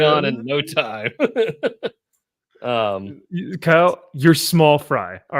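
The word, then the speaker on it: Kiel: I said all right my name is Kyle however I I do to everybody however it's spelled very oddly it's very weird it's k i e l and I just like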